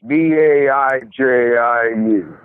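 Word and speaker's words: 白酒: I think it's pronounced Baiju. It's Baiju.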